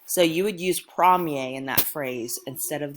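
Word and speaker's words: premier: from yay that's what it sounds like when you say that word prom yay so you would use prom yay in that phrase instead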